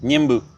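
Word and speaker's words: Ñemby: Niembe. Ça s'écrit Niembi, ça s'écrit Niembi, mais le Y en guarani, c'est dit E, qui veut dire eau.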